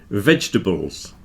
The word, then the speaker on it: vegetables: pronounce that U biscuits vegetables come on everybody knows that we don't pronounce the middle part of vegetables it's certainly not vegetables don't stress the tables at the end that gets contracted down